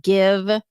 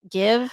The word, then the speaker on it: GXVE: this year are the Give. Is that how you say it? Give? It's GXVE, but yeah, give sounds right to me.